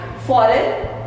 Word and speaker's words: foreign: Foreign. बहुत लिखते हो आप word foreign. G is again silent.